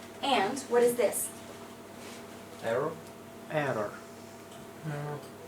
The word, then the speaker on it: error: error it is not it is an eror okay so like when we say this part we don't really say the O okay it's Error and this is a